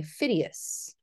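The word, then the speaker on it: Phidias: building and this is by phidius that's how we're going to pronounce his name and of course we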